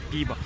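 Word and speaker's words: пиво: É, termina, se escreve P-I-V-O. Então, o V tem som de, V, de B, mas mais ou menos parecido com o espanhol. E o O tem som de A.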